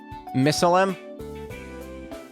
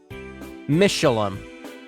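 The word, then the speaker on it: Mishelam: Missalem? Am I saying it wrong? Missalem? Was I saying Missalheim? Mishalem.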